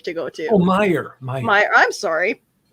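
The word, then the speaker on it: Meijer: to go to oh myer my i'm sorry apparently you're not supposed to pronounce the j who knew uh actually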